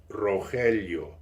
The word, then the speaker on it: Rogelio: My real name is, if you spell it, Rogelio, and it is pronounced Rogelio.